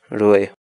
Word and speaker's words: ruray: de videos en la que te enseñamos a pronunciar algunas palabras en quechua. Así que nuestra palabra del día por hoy es... Rue.